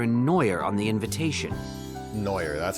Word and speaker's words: Neuer: Neuer. That's how you pronounce that.